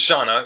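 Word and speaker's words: Zhana: So her name is Jana, Z-H-A. It's spelled like Zahana, but they call her Jana.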